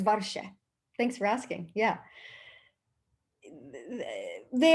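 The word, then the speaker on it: ווארשע: edish ah great question warsaw is varsha thanks for asking yeah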